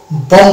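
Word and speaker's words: bomb: এই যে বম blast হয়, বম বোমা, সেটাকে আমরা বম বলবো না, বম বলবো, বম। বি এর উচ্চারণটা আনবো না।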